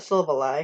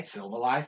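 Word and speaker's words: Silvally: null why sill valley i see i say still that lie i call it syllable lie silva lie i say self ally cause i it's like silver and ally because it is silver and is your friend that's it that's all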